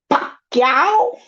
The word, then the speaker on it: Pacquiao: Pacquiao.